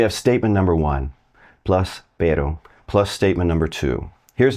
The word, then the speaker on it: pero: understand and use correctly, and that is pero. Pero, and not perro, because that means dog. And not a hard D like pedo, pedo, because that means fart.